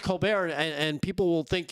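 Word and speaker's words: Colbert: Steven Colulbert uh just pronounced Colar and and people will think you're really smart.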